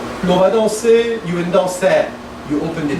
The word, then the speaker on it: danser: You open at the back, you have a diphthong. Danser. Danser. Now closer. Danser, mais. Danser. Yeah. Danser. And then stay on it. Danser. Yeah. No diphthong, right?